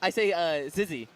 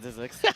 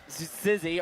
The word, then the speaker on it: XYZZY: I say Zizzy. Zizix? That is not Zizix.